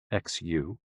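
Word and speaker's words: 嘘: the six sounds are xu pronounced like shh with a deep sigh which is associated with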